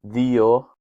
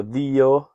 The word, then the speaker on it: δύο: Tu, δύο with a D. I pronounce my Greek Ds as a the because that is how modern Greek speakers pronounce it.